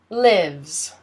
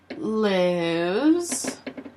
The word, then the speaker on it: lives: such as the president lives in the White House or the president lives in Washington DC lives you don't pronounce the e and the S sounds like a Z who lives lives lives